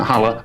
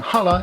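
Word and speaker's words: challah: it all together and hala is a traditional jewish bread i hope i'm pronouncing it right i think it's pronounced hala but it's spelt like chala and it is a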